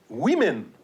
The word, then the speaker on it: women: We have the word women. The plural of a woman is pronounced women. Okay, so the O in that case is actually an I sound.